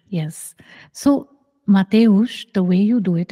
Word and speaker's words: Mateusz: Mateusz, yes. So Mateusz, the way you do it is, you just are living life.